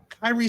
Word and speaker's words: Kairi: sidekick, but I mean, Kairi I call her Kairi. I'm I don't know if I'm pronouncing her name right.